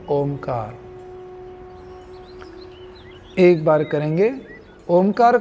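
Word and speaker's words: ओंकार: ओमकार का उच्चारण उ, अ, उ और म, और फिर जो म का पैर मुड़ा हुआ है उसको, तो वो चौथा यानी 3.5 मात्रा में हम करने वाले हैं।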